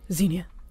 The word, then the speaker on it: Xenia: So, Xenia, did I say that right? Yes. There you go. I always tell on myself, right? So I mispronounced her name, and she was just like, Xenia.